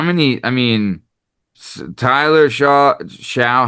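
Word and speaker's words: Shough: I mean, how many I mean, Tyler Shaw Sha, how do you say his last name?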